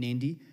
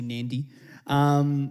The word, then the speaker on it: Nadi: There is a hidden N in Nadi. Apparently, when the white people came, they just couldn't, so they just said Nadi, but it's actually Nandi.